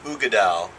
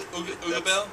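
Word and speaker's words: Uigeadail: Oh, Go ahead and pronounce it's the that. Ardbeg Ugeadal. Yeah, he's not butchering that. I'm sure that's how you say it. No, it is. It's called the Ugeadal?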